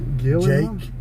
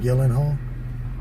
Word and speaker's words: Gyllenhaal: Gyllenhaal? Jake Gyllenhaal? Gyllenhaal.